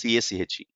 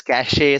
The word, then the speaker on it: cache: The spelling is CACHE. Okay, some people call it as cache, some people call it as cache, or whatever is your pronunciation.